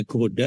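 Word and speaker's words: Gouda: desa atau kota kecil namanya goda ya bacanya goda itu adalah penghasil keju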